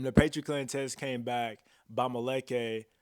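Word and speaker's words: Bamileke: So I started with a Patriot test, and the Patriot test came back Bamaleke people or Bamake people, how it can be pronounced in French, of Cameroon.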